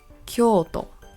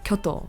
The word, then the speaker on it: Kyoto: this City's pronunciation because the O here is elongated in the first o but is very short in the second o so for example some people mispronounce it as Kyoto or other combinations that